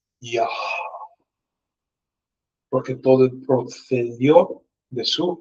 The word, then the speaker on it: Yah: Es por eso cuando mencionamos o cuando pronunciamos el nombre Yud-Hei, es Yah.